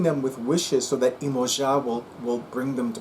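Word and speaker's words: Iemanjá: New Year's Eve celebrations in Brazil um honoring imoa imoa is the Portuguese pronunciation of Yaya uh Yaya as well as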